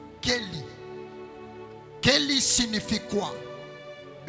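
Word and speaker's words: כלי: Ça s'écrit mais ça se prononce Kelly.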